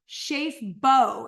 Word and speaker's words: Schaaf-Bow: Oh yeah, Joe Schaaf-Bow is how you pronounce it.